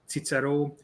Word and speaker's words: Cicero: because there is a there is a normal traditional pronunciation in hungary of latin language where we pronounce caesar as cesar cicero as tzitzero or jurasses horatios or germania as germania so we have a